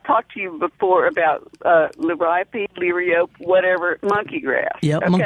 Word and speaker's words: liriope: It actually is supposed to be pronounced liriope because it's named after a Greek nymph or something like that.